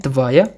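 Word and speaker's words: твоя: Ada tvoi, feminin tvaya, netral tvayo, jamak tvoi.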